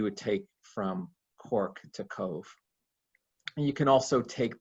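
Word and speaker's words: Cobh: fabulous this is cove cobn is pronounced cove this is um the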